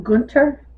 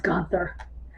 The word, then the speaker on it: Gunther: oh actually I guess they call him Gunter the H is silent um in English it's gonether but anyway um but in German it is Gunter um he did win